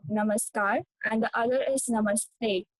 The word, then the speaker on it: namaskar: and other is Namaste So when you say namaskar so the namaskar r is sounded like the father in The a in the father so namaskar and the other is